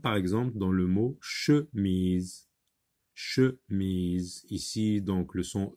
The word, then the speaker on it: chemise: Mais là, le E qui est à la fin, on le voit, on voit la lettre E, mais on n'entend pas le son E. Donc, il faut faire attention. Par exemple, dans le mot chemise, E ici est une lettre muette.